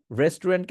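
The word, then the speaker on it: restaurant: করতে হবে so vehicle রেস্টুরেন্টকে আপনারা কি বলবেন রেস্ট রেস্ট বলা প্রথম অংশটুকু বলবেন রেস্ট তারপরে গিয়ে লাস্টেরটুকু বলবেন রন্ট লাস্টে গিয়ে কি বলবেন রন্ট প্রথমে বলবেন রেস্ট তারপরে বলবেন রন্ট রেস্ট রন্ট রেস্ট রন্ট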